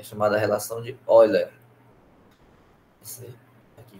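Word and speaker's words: Euler: é chamada relação de oiler aqui que gente escreve el mas pronuncia ol a relação é essa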